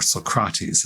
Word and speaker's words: Socrates: Socrates is rendered by Plato, or Socrates, as I've learned, is actually the pronunciation, and not because he's